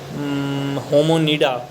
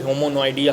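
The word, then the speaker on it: Hominidae: एंड तीसरा है होमोनिडा, होमिनिडी बोलते हैं एक्चुअली, होमोनोइडिया हम कहते हैं अपने हिसाब से, ताकि अच्छे से लिख लें। होमोनोइडिया हम बोलते हैं, हम प्रोनाउंसिएशन करते हैं क्योंकि उसको इंग्लिश में लिख लें ताकि स्पेलिंग, लेकिन उसको बोलो होमोनिडी जाता है, जिसमें मैन एप मंकी हम लोग आते हैं।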